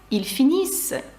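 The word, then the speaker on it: ils finissent: пишеться Ось так вимовляється ільфініс вони кажуть пишеться Ось так і читається як ільдіз нт наприкінці дієслів не читається також наприкінці слів у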